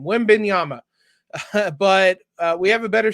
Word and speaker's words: Wembanyama: The Spurs are going to get Victor Wembanyama. That's not how you say it. I butchered that name. Wembanyama.